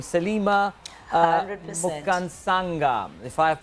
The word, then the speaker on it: Mukansanga: Mukansanga, if I have pronounced it correctly. Yes. Mukansanga.